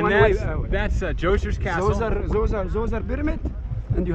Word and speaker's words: Zoser: How do you say Zoser? Zoser.